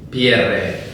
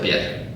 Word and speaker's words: Pierre: En francés es Pierre y se pronuncia Pierre, porque es francés. Lo que pasa es que yo creo que mis antepasados, cuando llegaron a España con lo de Pierre, pues se dieron cuenta de que tenían que hacerlo a la española, la pronunciación. Y entonces ya es Pierre, y en mi familia, desde que yo soy consciente, siempre hemos dicho Pierre.